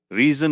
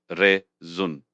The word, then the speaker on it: reason: Of course, reason is pronounced re-zun. The stress is on the first syllable.